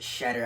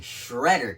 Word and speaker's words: Shedder: already Dogman the Scarlet shedar I've been pronouncing it uh shedar since the beginning of this video last video I was pronouncing Shredder cuz I thought there was an extra R after the E however I still think